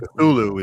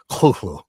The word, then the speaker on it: Cthulhu: Cthulhu is the way everyone kind of says it, and that's sort of the accepted pronunciation. But the phonetic version that Lovecraft writes out is Cthulhu.